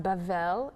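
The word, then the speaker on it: בבל: group and one land bable bable pronounced bevelle in hebrew is Babylon the tower in the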